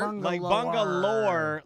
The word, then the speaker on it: Bungalower: said it right lore are you say lore Bangalore bungal lore like almost like it's like folklore oh that's fun yeah